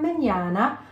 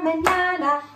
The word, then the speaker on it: mañana: Today or mañana, I'll be saying can I have a banana? Mañana means tomorrow in Spanish. Yes, and it rhymes with banana.